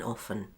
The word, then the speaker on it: often: Happen often, policemen, Oh by the way, some people pronounce the T in often like this often, it's up to you.